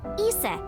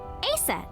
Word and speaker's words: Isis: horace's mom is named isis but in ancient egyptian it's pronounced closer to isa or asa hmm how do i